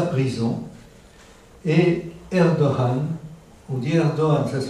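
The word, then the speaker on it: Erdoğan: On dit Erdogan, ça se prononce Erdogan, mais c'est Erdogan si vous préférez.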